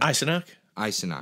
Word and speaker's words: Eisenach: Gingrich, it's not even with how do you pronounce his name again? Eisenach.